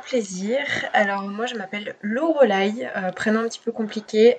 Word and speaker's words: Loreleï: alors moi je m'appelle loreleï prennent un petit peu compliqué a à dire et à écrire donc je dis souvent à mes clients c'est l'eau heureux là y voilà parce que ça